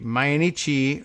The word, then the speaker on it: Mainichi: he said in March so that's a Mayan mainichi it's M AI n IC H I I don't know whether we're meant to pronounce that in anglicized formas main man Ichi or my in Ichi and had that extra syllable I'm gonna do that